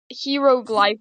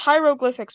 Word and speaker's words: hieroglyphics: of cool heroics hieroglyphics my mom pronounces it as like freaking heroglyph I'm kidding oh my God I'm kidding I don't remember how she pronounced them I think she said like hieroglyphics or something like that it's hieroglyphics bro bro heroglyph like the guy